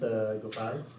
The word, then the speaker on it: Gopal: My name is Gopal. There are two syllables like Go and Pal.